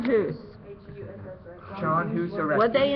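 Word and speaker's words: Hus: Which rhymes with? Goose. Goose. John Hoos.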